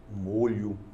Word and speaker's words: molho: então onde na pronúncia uma é fechada EA outra é aberta quando é o substantivo molho o caldo É assim nós temos aoa vogal fechada molho quando os temos estamos com o verbo o verbo molhar E assim a pronúncia é com o aberto eu moro you as